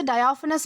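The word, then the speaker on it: diaphanous: तो दोस्तों इसके बाद हमारा अगला वर्ड आता है डायाफनस। दोस्तों इसे डायाफनस प्रोनाउंस किया जाता है, जिसका मतलब होता है बहुत पतला या फिर पारदर्शी।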